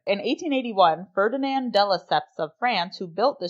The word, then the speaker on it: de Lesseps: De Lesseps? De Lesseps. Oh, okay. But it's pronounced de Lesseps.